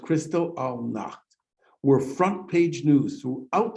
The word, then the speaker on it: Kristallnacht: most concentration camp prisoners had been political opponents of the nazis these attacks which were soon called kristallnacht pronounced crystal all knocked were front page news